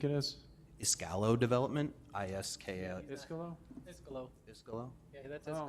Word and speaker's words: Iscalo: Even reading it now, I messed up. Iscalo, Iscalo, I've been saying it wrong. I-S-K-A-L-O, Iscalo.